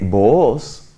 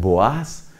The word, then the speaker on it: Booz: grande que hicieron que Booz, otros pronuncian Boaz, que era el abuelo